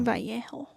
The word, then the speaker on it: Vallejo: Like they found him face down with the letter in his hand to the Navajo press newspaper company, whatever, or Vallejo, I think, not Navajo. Vallejo.